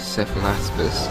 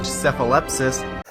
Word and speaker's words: Cephalaspis: Mutilates the name of the genus Cephalaspis, pronouncing it as Cephalepsis.